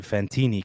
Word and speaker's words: Fantini: Fantini kind of rhymes with Fantilli.